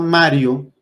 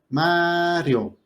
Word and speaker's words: Mario: Pero la persona, si alguien se llama Mario, la fuerza de la voz está cayendo en la A. Mario. Entonces es una palabra grave y por regla las